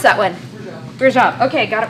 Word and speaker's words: Rajab: I can't pronounce that one. Rajab.